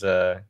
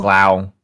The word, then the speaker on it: Glau: As I put my hands out in like a very presenting manner towards Gaul. Gale. Glau. Gaul. Glau. There you go. Glau. Glau. Like glamour.